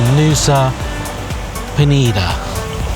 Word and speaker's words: Nusa Penida: This is on Nusa Penida.